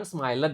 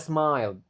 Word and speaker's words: smiled: Ingat ya, kalau dia berakhiran bukan atau day, ed-nya enggak dibaca. Jadi bukan smiled ini. Jadi tetap dia smiled.